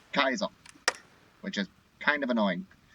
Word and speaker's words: Caesar: people pronouncing and then in game it's pronounced Kaiser which is kind of